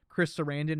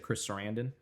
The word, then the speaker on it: Chris Sarandon: And like the shot, it's obviously mostly CG, but it looks fantastic when after he demolishes Chris Sarandon in the street, his little cameo, and he's